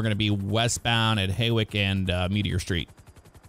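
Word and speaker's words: Hawick: Haywick Avenue, we're going to be westbound at Haywick and Meteor Street. going to say Haywick because that's the correct way to say it.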